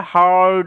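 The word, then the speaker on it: heard: আর এইটার নিয়মটা আমি বলেছিলাম যে ই এ আর তারপরে কোন কনসোনেন্ট বা কোন লেটার যদি থাকে ই এ আর একত্রে আর সাউন্ড দেয় ওই কারণে এটা হিয়ারড হবে না কিন্তু অনেকে হিয়ারড বলে উচ্চারণটা এটার উচ্চারণটা হারড হবে ওকে শুনতে পারা তাহলে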